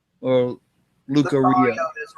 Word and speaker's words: Lucario: Lucario is right. What? Lucario is right. Okay. Or it could be Lucario or Lucario. Lucario, because that's how they would pronounce it mostly on the show.